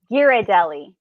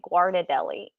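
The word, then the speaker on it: Ghirardelli: the theie chocolate yeah Megan told me giradelli giradelli because I was calling it guad Deli and she was like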